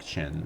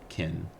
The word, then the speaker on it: Qin: I think the name China comes from Qin, which is why I'm pronouncing it like Qin and not Kin.